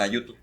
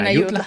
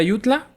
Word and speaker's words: Ayutla: En Ayutu. En Ayutla. Exacto. Por eso fue el plan deut. Plan de dónde? Ayutla. Ah, pues bueno, estamos en Tuvo que oír eh ah, perdón. Entonces se pronuncia el plan de Ayutla eh para derrocar a